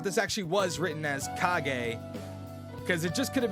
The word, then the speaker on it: kage: so you all know kage is supposed to be pronounced kage and not cage thanks for coming to